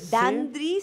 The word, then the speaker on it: Dandree: vide clip en tu canal de YouTube de dandri se escribe dandre con 12 dos e dandre y